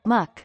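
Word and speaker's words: Mućke: which formerly comprised yugoslavia they call it muk the first syllable sounds like much the second rhymes with meth which means something like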